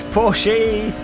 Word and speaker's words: Porsche: too skilled I'm just I'm too skilled it's poor she next you'll be telling me that Bugattis pronounced Peugeot matin Jordy whose Jordi Jordi racer